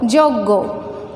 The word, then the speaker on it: যজ্ঞ: যজ্ঞ নয়, উচ্চারণ হলো যজ্ঞ। মানে গোয়াটি থাকার জন্য আদ্য অ ওতে পরিণত হয়েছে।